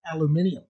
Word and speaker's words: aluminium: By the way, in Britain and Australia, they pronounce it aluminium. Aluminum.